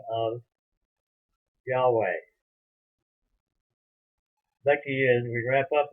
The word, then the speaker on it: Yahweh: And that means that the Hebrew behind it is the name Yahweh, as it's usually pronounced. Some people have called it Jehovah.